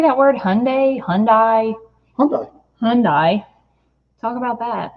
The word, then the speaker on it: Hyundai: night how do you say that word Hyundai Hyundai okay Hyundai talk about that make you happy